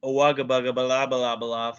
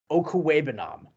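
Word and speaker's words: Okwuegbunam: I mean, whatever that guy's name is, Owagabugabala for Denver this week had a 60-yard. Respect that man. His name, say it properly, is Albert Okuwebanam.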